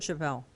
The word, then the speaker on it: Chappelle: said ron chappelle is is a chapel of chavel i think it's chapel chapel okay well he made it easy for us but i'm i apologize